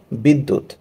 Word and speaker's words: বিদ্যুৎ: দিতে হবে এবং দূত খেয়াল করে দেখি এখানে দ দুইবার উচ্চারিত হলো আরেকটা এক্সাম্পল দেখি বিদ্যা